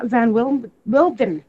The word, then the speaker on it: von Windheim: This morning, I have Sita von Windheim with me.